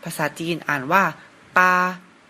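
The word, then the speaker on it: 八: นะ ครับ เลข 8 ภาษา จีน อ่าน ว่า ปา ก็ จะ เริ่ม ขีด ด้าน ซ้าย ก่อน นะ ครับ แล้ว ขีด ด้าน ขวา ตาม ลำดับ ครับ ภาษา จีน อ่าน ว่า ปา แปล ว่า เลข 8 ครับ เลข ต่อ ไป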